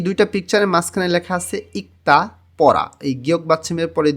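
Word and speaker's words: 읽다: শিনমুন পত্রিকা এই দুইটা পিকচারের মাঝখানে লেখা আছে ইক্তা পড়া এই গিয়ক বাচ্চিমের পরে দিও আসলে দ টা ত উচ্চারণ হবে ইক্তা পড়া এই দুইটা জিনিস যখন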